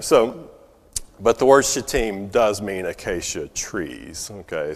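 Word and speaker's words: Shittim: go wrong when you say it okay but pronounced chatim okay not the way we would say it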